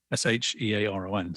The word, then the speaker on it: Shearon: is spelt as the word Mr., Mister, and then my name, Shearon. So it's like Ed Sheeran, but spelled correctly.